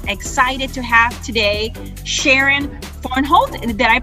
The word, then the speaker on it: Vornholt: Excited to have today Sharon Vornholt. Did I pronounce that correctly, Sharon?